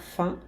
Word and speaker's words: faim: Avoir faim, ter fome. Cuidado aqui, esse A-I-M faz um som 1, d'accord? O M aqui não se pronuncia de jeito nenhum.